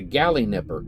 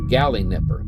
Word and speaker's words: Galinipper: called the Gin Nipper the gal Nipper I hope I'm actually pronouncing that right it's g a l i n i p so I'm going to Pro I'm about confident it's G Nipper gy Nipper and so